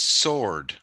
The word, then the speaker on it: sword: sward buster sword it don't pronounce the W its sword sword sword but it's